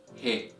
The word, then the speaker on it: ه: 26th letter of Arabic is pronounced as he hey hey hey repeat after me hey hey so the sound of the letterhead is equivalent to the sound of the letter H in English also it is similar